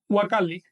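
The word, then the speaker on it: huacalli: Así que si la U va precedida de una consonante, se va a pronunciar como U. Si va al principio de la expresión, se va a pronunciar como W.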